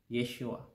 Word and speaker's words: Yeshua: ng pangalan ng Panginoon sa hebreo binibigkas ito Yeshua o ano ba ang tamang bigkas dito sar Mike ang bigkas nito ay Yeshua sa griego bikas itong